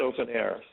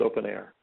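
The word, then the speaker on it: openEHR: something else um a open o n EHR pronounced open air so sorry uh should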